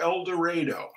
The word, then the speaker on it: El Dorado: Ranch uh out near eloro it's spelled El Dorado but they say eloro uh not out near